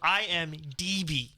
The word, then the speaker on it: IMDb: it was like, wait, are you saying BD or DB? So I went back and listened to that episode, and after it happened, I had it right. And then midway through, I was saying it wrong. You were switching it back, yeah. But I always mix it up like that. So IMDb. DB, yes.